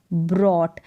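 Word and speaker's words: brought: ब्रॉट क्या हो गया ब्रॉट यहां पर जो जीएच है जीएच क्या है साइलेंट है इज ब्रॉट में ध्यान रखना है कि जीएच साइलेंट है बी आर ओ यू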